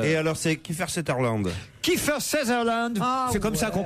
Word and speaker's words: Kiefer Sutherland: Kiefer Sutherland, Ah, c'est comme ça qu'on prononce.